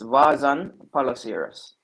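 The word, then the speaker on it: Vaasan Palloseura: i can't spell the name but i can't pronounce it so you you speak finnish it's vasant polocirus okay yes so and they play when he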